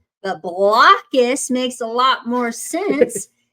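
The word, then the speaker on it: Blokus: it was pronounced a different way than it's pronounced I thought it was called blus but blockus makes a lot more sense since their little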